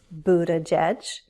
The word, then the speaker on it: Buttigieg: There are 3 syllables, Buttigieg, stress on the first, which means the other 2 syllables have unstressed vowels, Buttigieg. The first syllable has a long oo. The double T becomes a flap T, so it will sound more like a D sound, Buttigieg.